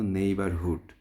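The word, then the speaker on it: neighbourhood: সাত নাম্বারে আমরা যে শব্দটা দেখছি এটার উচ্চারণ হলো নেইবারহুড।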